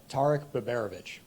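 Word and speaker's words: Tarik Biberović: Zach first he asked me if you could pronounce his name one more time Tariq beberovich thank you um and then looking ahead to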